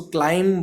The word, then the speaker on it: climb: अब एक इम्पॉर्टेंट बात, क्लाइंब जो वर्ड है CLIMB, इसमें लास्ट में जो भी आ रहा है उसको हम प्रोनाउंस नहीं करते हैं. ओके, आपने जो क्लासेस इन बच्चों ने अटेंड की होंगी, अदरवाइज उसमें M और B जब इकट्ठा आ जाता है तो पहले MI और लास्ट में B, तो B को हम साइलेंट रखते हैं, इसको क्लाइम बोलेंगे. Okay, so इट्स क्लाइंबिंग, क्लाइंबिंग नहीं कहेंगे.